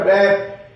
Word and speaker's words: wrap: जैसे इन वर्ड्स को देखते हैं, WRAP, इसमें W साइलेंट रहेगा, रैप, WRATH रैथ, WRECK W